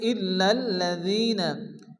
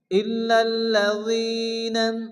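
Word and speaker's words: إلا الذين: ইনসান ইন্নাল এরপরে ইল্লাজিনা এখানে কিন্তু লামের উপরে তাসরিদ আবার লামের উপরে তাসরিদ অর্থাৎ ডাবল ডাবল তাসরিদ আসছে তো তাসলি আসলে কি হয় একটি অক্ষরকে দুবার উচ্চারণ করে পড়তে হয় প্রথমত ডান দিয়ে অক্ষের সঙ্গে মিলিয়ে পড়তে হয় এরপর শুধুমাত্র ওই অক্ষরটি উচ্চারণ করে পড়তে হয় তো এখানেও আমরা ডাবল উচ্চারণ করব ইল্লাল লাজিনা এখানে জালিদের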